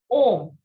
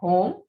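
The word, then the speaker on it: homme: the letter h is ohm not home let me tell you one thing that in prince the sound of h is silent okay so what do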